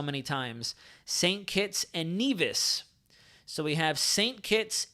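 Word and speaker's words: Nevis: phases of the storm it's pronounced neas okay we're going to have a whole lecture going on in here right now so it's Nas sa kits and neas not nevas I've heard nevas so many times St kits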